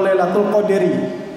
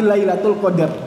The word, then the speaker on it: Lailatul Qadr: yaitu Lailatul Qadr atau Lailatul Qadri tidak dibaca Lailatul Qadr with tapi lailatul qadar atau rela toko diri